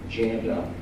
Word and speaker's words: Janda: Janda, and spelled like you hear it, Janda, and talk about, and comma, stimulus, it'll pop up, and you can read it for yourselves.